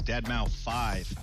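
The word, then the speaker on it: deadmau5: This is your good friend Joel, professionally known as DeadMau 5. Yes, that is the correct way to pronounce it.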